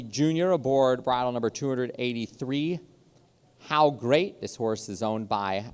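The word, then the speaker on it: Howe Great: Derby winner Sunday silenced how great is spelled h o w e now for the hockey player Gordie Howe and how great you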